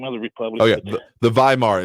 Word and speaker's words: Weimar: can't remember the name of the Republican the Weimar it's spelled with a W but pronounced by Mark